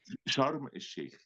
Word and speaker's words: Sharm el-Sheikh: Sharim? Sharim? Sharm el Sheikh, Sharm el-Sheikh.